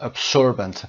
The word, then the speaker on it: absorbent: ساکت‌ترین نقطه روی زمین هست و 99.9% 99.9% sound absorbent و یا absorbent فرقی نداره. یعنی میتونید شما این قسمت S رو S یا S و یا Z تلفظ بکنید.